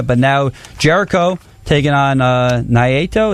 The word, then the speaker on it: Naito: When he was taking on Kenny Omega, but now Jericho taking on Naito. Is that how you say it? Naito. Yes, Naito.